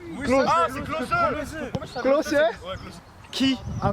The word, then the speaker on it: Klose: Je ne sais pas comment on prononce son nom. C'est Vlahovic, frère. Hein? Krapovic. C'est Miroslav Klose. Klose. Ah, c'est Klose.